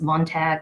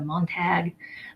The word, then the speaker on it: Montague: Romeo Montague so the the mispronunciation we see a lot with heaviness Montague let's say it's a Montague but it's Montague that last syllable there's like you next one is Benvolio